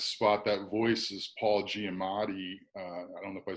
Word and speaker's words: Giamatti: behind behind this spot that voice is Paul Giamatti I don't know I said his name right